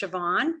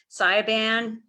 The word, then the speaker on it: Siobhan: They gave me an Irish name that means Joan, and it's pronounced Siobhan. But growing up, I was called Siobhan, Slaban, Soybean.